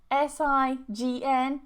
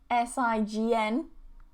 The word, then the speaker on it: sign: We have this S-I-G-N, S-I-G-N, S-I-G-N. Okay, and they're pronounced the same way.